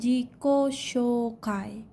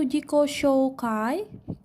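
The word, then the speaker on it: 自己紹介: 1 saya sudah menjelaskan Jika ada huruf vokal dua huruf vokal bertemu maka dibacanya panjang Zico shokai oke Hai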